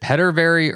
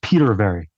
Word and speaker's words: Petervary: pronounce your last name is it pet very or Peter very yeah just like it's it's spelled Peter very Peter very okay well